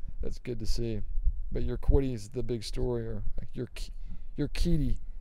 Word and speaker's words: Urquidy: they could bring up Jose Urquidy. That's how you say that name. I used to say Urquidy, but it's Urquidy, I think, is how they're pronouncing that.